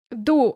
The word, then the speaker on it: dur: "Dur," that is, D-U-R, but pronounced /ˈdu/.